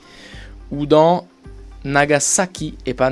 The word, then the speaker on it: Nagasaki: s comme dans wasabi et pas wasabi houdan nagasaki et pas nagasaki c'est bien s attention à ne pas faire